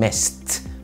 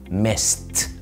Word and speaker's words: missed: watched مش watched watched، لو الفعل اخره s زي miss في الماضي missed missed I missed you مش